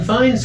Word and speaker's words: Fiennes: Their names are not spelled the way they're pronounced, but I am pronouncing them correctly after Is that one of those F-E-I-G? Yeah, F-I-E-N-E-S, right. Okay. And- Fiennes. Yeah, Fiennes. Yeah, but I tell you, what a great movie.